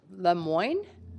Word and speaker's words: Lemoine: then parmendra Gill the Lemoine thank you councilor guys very rare to hear my name pronounced correctly in Vancouver so thank you but I do go by lemoy in Vancouver uh good evening counselors